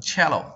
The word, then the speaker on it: cello: 一个单词不能读成 Cello，读成 Cello 大提琴，是吧？